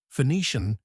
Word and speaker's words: Phoenician: Words spelled with double s or even with c are pronounced as if they contained sh. Passion and Phoenician are typical examples. The fossilized pronunciation of the term Phoenician with esh reveals an older double s substituting the final she in phoenix.